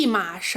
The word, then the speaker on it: 一: 你看“一件新衣服”就是发第二声 You see, a new piece of clothing “一” is pronounced with the second tone.